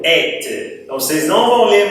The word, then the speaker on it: êtes: Lembra que eu expliquei quando o E tinha um acento circunflexo, ele se abria, né? Igual quando a gente fala fête. Então, se você fala festa, de fête, você vai falar, tenho a certeza, et.